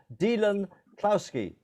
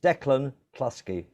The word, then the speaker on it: Declan Kluski: I was called Dylan Klowski. My real name is Declan Kluski.